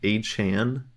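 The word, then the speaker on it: Achane: did you see that he wants people to pronounce his name a Chan I don't physically know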